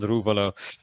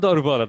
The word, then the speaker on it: Daruvala: We have seen really positive signs from Yuki Tsunoda, Jehan Daruvala, Yuri Vips. I said Daruvala wrong. I said it in the British pronunciation. I'm Indian. I'm not supposed to say it that way. Jehan Daruvala, that is.